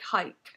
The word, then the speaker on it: HAIK: So they say it like HAIK. Okay. I'm going to say HAIK then. That's how I originally said it, so HAIK. Musikken de lager gir lykke,